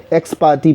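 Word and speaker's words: ex parte: इसका प्रोनाउंसिएशन दोबारा सुनिए, एक्स पार्टे। लोग इसको एक्स पार्टी बोलते हैं, तो इसका एक्स पार्टे, पर सामान्य भाषा में अब इसको एक्स पार्टी ही बोलने लग गए हैं।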